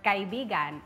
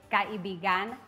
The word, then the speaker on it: kaibigan: So, for example, the word kaibigan is friend, But if you say kaibigan, that's your lover.